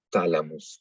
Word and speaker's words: thalamus: Entonces, pero la H no se pronuncia, la pronunciamos como una T. Thalamus, por ejemplo.